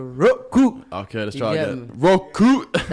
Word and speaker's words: Roku: Roku. That's how you say it, boss. You gotta say it with the Roku.